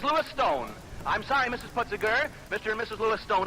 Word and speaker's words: Putziger: Putziger? How do you pronounce it?